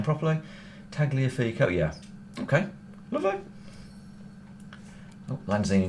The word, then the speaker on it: Tagliafico: Tagliafico, yeah.